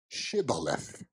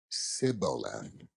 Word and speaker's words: Shibboleth: If he said, nay, then they said unto him, say now, Shibboleth. And he said, Sibboleth, for he could not frame to pronounce it right.